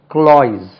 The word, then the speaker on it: cloys: Over sweet, க்ளாய்ஸ், CLOYS, க்ளாய்ஸ். பாருங்க, க்ளாய்ஸ், ஜெட்டில் முடியும், க்ளாய்ஸ் இல்லை, அது க்ளாய்ஸ்.